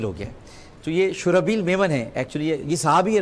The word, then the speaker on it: شرحبیل: خود بھی کہا تھا, ان کا تلفظ غلط ہے. یہ جب اپنے آپ کو شرجیل کہیں گے بڑا مسئلہ. یہ شرحبیل نام ہے, اصل میں شرحبیل ہے. یہ لکھا شرحبیل جاتا ہے, یہ غلط العام شرجیل ہو گیا ہے.